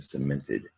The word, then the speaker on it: cemented: Now, the C in the beginning of both words up top is followed by an E. Now, we're going to look at this in a moment, but most all of the time a C is followed by an E. That is a soft C sound.